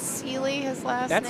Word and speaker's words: Celi: I heard yesterday in the warm room that Chris, is it pronounced Celi, his last That's name?